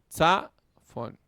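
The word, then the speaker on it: צָפוֹן: La vocal larga en una sílaba cerrada recibe el acento. Za, fon, ¿verdad? ¿Cómo sabemos? Bueno, porque tenemos que se alarga, ¿no? Tenemos una jirek con yod en levi y aquí tenemos el kametz, que es el largo. Zafón, zafón, ¿verdad?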